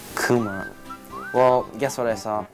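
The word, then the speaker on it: くま: Kuma. Kuma.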